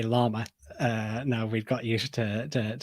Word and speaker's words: llama: we would mention is how to say the word llama, which is not llama. No, it's a good point. So in Spanish, a llama is spelt with double L at the start, so it's a llama.